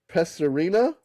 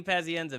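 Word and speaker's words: Pazienza: Uh Vinnie Paserina. How do you say this guy's name? Vy. Vinnie Pazenza.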